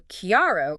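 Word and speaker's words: chiaro: So kiaro clear starts with that k sound like cat.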